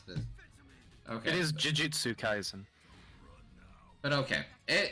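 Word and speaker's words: Jujutsu Kaisen: gonna arue for 10 Mo minutes how to pronounce this okay it is Jitsu kaisen but okay it it's a basically a 3D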